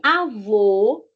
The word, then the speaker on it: avô: E avô tem como se fosse um chapéu. Avô. A pronúncia é diferente. A avó, o avô. OK.